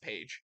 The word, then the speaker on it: Paige: paper no no no you got to put the eye in in there but it still pronounced page but now there's an i in there doesn't need to be